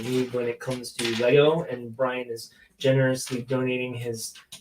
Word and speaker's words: Lego: word the plural of lego is lego there's no s um lego has said it and i don't really care what people say and people get all bent out of shape because some people say it wrong in the forums or on facebook say it whatever you want to say but the correct way is technically unofficially is this lego with no s so if you